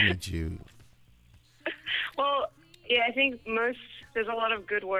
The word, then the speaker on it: Jude: Just call me Jude. Well, yeah. I think most There's a lot of good words that rhyme with Jude. Like crude, nude. You're right.